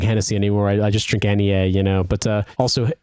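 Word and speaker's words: Henniez: of um sparkling water called Nea but it's spelled like H NN i e z and it's from a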